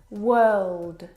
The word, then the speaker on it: world: word world and work now you're probably mispronouncing these words because you are looking at the o.r and you're trying to pronounce the vowel sound or like in door but this is incorrect the vowel sound is actually as in her work world word this is your